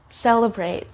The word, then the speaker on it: celebrate: Celebrate, celebrate. Did you hear how I pronounced the suffix? What sound did I make for the letter A? It's the long sound of the letter A, A.